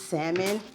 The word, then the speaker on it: salmon: anybody that pronounces salmon and you actually say the l i hate you salmon say it with